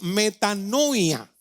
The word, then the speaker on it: metanoia: una palabra que que se llama que se pronuncia metanoia conmigo otra vez metano ya metano el verbo